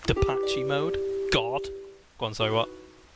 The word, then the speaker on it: Depeche Mode: Cash mode, I believe it's pronounced Depache mode.